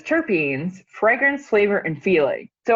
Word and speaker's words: terpene: And I mean, the stuff about terpenes. So it's pronounced terpene? Terpene, yeah.